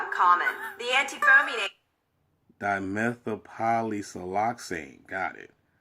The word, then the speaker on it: dimethylpolysiloxane: The antifoaming agent, dimethylpolysiloxane, is a type of silicone used.